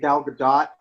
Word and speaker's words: Gal Gadot: I think Gal Gadot, which is the correct pronunciation of her name, even though people call her Godot all the time to her face and she doesn't correct them, so maybe it's both.